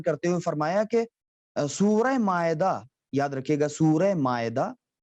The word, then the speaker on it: مائدہ: ہوئے فرمایا کہ سورہ مائدہ، یاد رکھیے گا سورہ مائدہ، سورہ مائدہ، پھر اس کا اردو تلفظ کیسے ہوگا، میم الف زبر ما، حمزہ زیر اے، دال ہے زبر دا، مائدہ، سورہ مائدہ۔ سورہ مائدہ